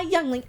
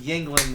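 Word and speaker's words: Yuengling: me spit on my youngling ever again do you know what that sounds like a little sucking on a younglings thank you actually it's pronounced Yingling which is even worse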